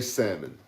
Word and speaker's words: salmon: I think the L is silent. I say salmon.